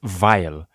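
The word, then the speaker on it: Weil: guys it's German it's pronounced vile anyway he was banished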